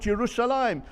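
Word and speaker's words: ירושלים: But you know, the name Yerushalayim is quite remarkable. It's a kriyuchtiv. On 669 occasions, it is mentioned in Tanakh, spelt Yerushalayim without the yud before the final mem, but we pronounce it Yerushalayim, whereas everyone else calls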